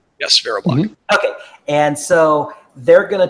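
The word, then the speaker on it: VeriBlock: block right did I say that correct yes Vera block okay and so they're going to talk about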